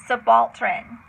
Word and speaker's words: subaltern: don't want to forget so number one is subaltern it's the balton and it's um ooh I